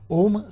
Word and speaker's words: ओम: थोड़े समय के लिए ओम जो मंत्र है अ उ और म का उच्चारण करें ओम मंत्र में